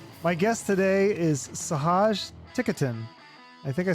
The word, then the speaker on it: Ticotin: Welcome, Sahaj Ticotin. I practiced that. Did I say it right? You did. It all right. Like stick it in. It's what? It's like stick it in. Stick without the S.